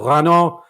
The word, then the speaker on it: Renaud: me the attention of rano renard camus i hope i'm pronouncing that right yeah yeah renault is fine fantastic um what would